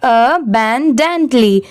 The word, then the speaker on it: abundantly: ये है अबैंडेंटली, इसे हम क्या प्रोनाउंस करेंगे? अबैंडेंटली। यहाँ पर अ की साउंड सेपरेट आ रही है, ए की अ आ रही है।